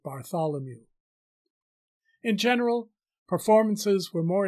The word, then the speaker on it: Bartholomew: We would pronounce it Bartholomew.